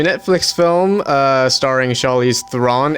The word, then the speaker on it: Charlize Theron: film uh starring charlize thrawn everybody calls her charlize theron it's thrawn yeah charlie's the ron that's